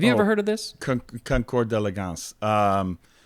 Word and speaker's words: concours d'élégance: It is concours d'élégance. Concours d'élégance. It is spelled, it's 2 words. First word, CONCOURS. You don't pronounce the S.